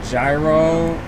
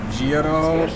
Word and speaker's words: gyro: Is it pronounced gyro or giro or iro?